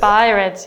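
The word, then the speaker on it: BI-RADS: 정확 한 발음 은 무엇 인가 요 ? 잘 모르겠어 요 . 바이 - 라즈 . 바이래즈 입니다 .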